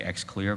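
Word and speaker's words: Xlear: take a spray called X clear x le AR just pronounced I say X clear perhaps there's another way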